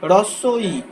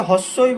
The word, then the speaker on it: হ্রস্ব ই: একইভাবে হ্রস্ব ই, এই যে যেটাকে আমরা হস্যই বলি অনেক সময়, সেটা সঠিক উচ্চারণ কি হ্রস্বই।